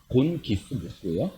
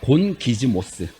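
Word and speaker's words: γογγυσμός: 자, 여기서 원망이라는 건요, 헬라어로 곤기스모스예요. 자, 한번 따라 해보겠습니다. 곤기즈모스. 그 발음이 좀 어렵죠?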